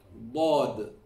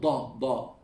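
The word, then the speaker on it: ض: Not Dhaad. Don't ever touch your front teeth when you pronounce the Dhaad.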